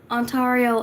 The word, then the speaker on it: Ontario: So, my question is it Toronto, Ontario, or Ontario? Because I've heard it pronounced both ways. I got it right. Yes. Geography master. My geography paid off. Yes. I love geography. Ironically enough, I actually want to go visit Canada one day. Ah, okay. Ontario and Toronto. Okay, it's like that.